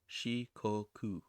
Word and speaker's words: Shikoku: the island shiko shikoku i think i was pronouncing that wrong before shikoku another important chain of islands is okinawa located